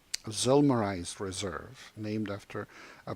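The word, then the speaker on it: Zillmer: actuary our Raziel nur or in German pronounced August summer in English - probably August Zoomer it's always very confusing how Americans pronounce foreign names but that's okay I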